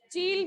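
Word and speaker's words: Chile: चील भी बोल सकते हैं, चाइल, ठीक है, डिफरेंट प्रोनाउंसिएशन कई बार हो जाती हैं।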